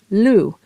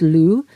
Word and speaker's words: Lugh: from the Celtic god Lou spelled l-u-g-h but pronounced Lou he was a god